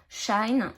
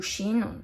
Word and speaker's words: Shein: un colis de chez Shine ou Shein, ça dépend de comment vous le prononcez, moi c'est Shine.